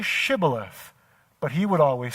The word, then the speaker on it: Shibboleth: And then they would say, "Say Shibboleth." But he would always say, Sibboleth.